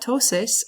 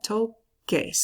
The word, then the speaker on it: toques: I don't want toses. I want toques.